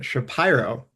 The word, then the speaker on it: Shapiro: So I am here not with Shapiro, with Shapiro, Thank you. which has blown my mind that that's how it's pronounced.